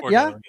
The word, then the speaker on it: Bordeaux: Is that how you pronounce that? Bordeaux, yeah, that's how we pronounced O down here in Louisiana.